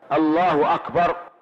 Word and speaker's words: Allahu Akbar: Pour finir, voici la prononciation correcte du takbir répétée 5 fois et que vous pouvez vous entraîner à prononcer juste après. Allahu Akbar, Allahu Akbar, Allahu Akbar, Allahu Akbar, Allahu Akbar.